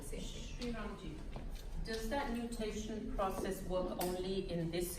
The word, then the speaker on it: nutation: Nutation, N-U-T-A. Not mutation. Nutation.